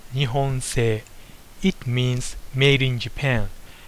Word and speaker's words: 日本製: actual producer is in Japan number two is pronounced nion say it means made in Japan and whenever you